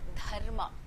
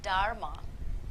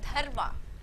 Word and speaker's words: Dharma: So you take the tip of your tongue and it's to the inside of your upper teeth, and you try and make a sound.